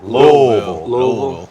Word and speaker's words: Louisville: Jes unbelievable yeah yeah you said Louisville you know how they say it there Lille Lille had a had